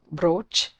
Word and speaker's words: broach: brings me also to another word which is spelled b r o a c h which is also pronounced as uh brooch and this word happens